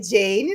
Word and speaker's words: Jane: Ela me falou aqui, me corrigiu como que é a pronúncia do nome dela, não é isso, Jane? Eu vou falar Jane, Jane isso algumas aí, vezes.